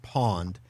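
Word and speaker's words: pwned: i been and it's it's pronounced pawned have i been so h-a-v-e have i the letter i ben b-e-e-n and then pond is spelled funny p-w-n i have been pawned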